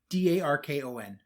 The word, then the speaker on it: Darkon: D-A-R-K-O-N. How would you pronounce that?